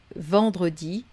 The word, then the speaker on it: vendredi: c'est pas un problème mais vendredi on garde le e là on aurait carrément quatre consonnes quoique une épaule la voyelle nasale donc vendre dit non vendredi on garde notre voilà